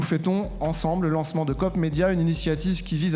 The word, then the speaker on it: Coop-médias: lancement de Cop medéia alors faut bien prononcer hein on dit bien cop medéia alors COP qu'est-ce que